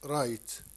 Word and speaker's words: write: I think and write. Write. لا تنطق W لا تنطق.